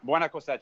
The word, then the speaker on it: Buena Cosecha: to terence about um i have the agonorsa buena cosecha is that how you say it terence buena coche yeah so this is this is a cigar